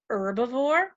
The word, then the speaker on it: herbivore: consumer is called a herbivore some people pronounce this herbivore which makes the H silent either one is correct